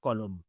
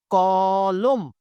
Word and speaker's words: কলম: মৌখিক উচ্চারণটা লিখবো কিভাবে ক লকার ম এর নিচে একটা হসন্ত দিয়ে ফেললাম এখন বিষয়টা হচ্ছে এই ম এর নিচে হসন্তটা দিলাম কেন কেন দিলাম আগেই বলেছি ম এর সাথে অনে কলম এখানে ক এর সাথে